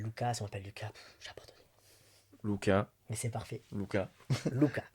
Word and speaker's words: Lucas: et du coup, Lucas, on dit Lucas ou Lucas? Alors, ça s'écrit avec un U, mais ça Ouais. se prononce Luca.